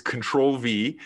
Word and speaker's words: Ctrl V: of the company is control v it's spelt like the control button on your keyboard ctrl and then the the letter v you can find it